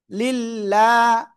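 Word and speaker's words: لِلّٰهِ: আল্লাহ শব্দের লাম এর ডান পাশে জের যদি আসে তাহলে চিকুন করে পড়বো। চিকুনটা কি লয় আকারে লা এর মতো উচ্চারণ হবে। ঠিক আছে? লিল্লাহ, হাজের হি, লিল্লাহি। লিল্লাহ বললে ভুল।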